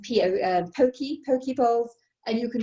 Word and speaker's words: poke: nice and it's now very popular they're called pokey bowls p-o-k-e but it's pronounced p-o pokey pokey poles and you can do it with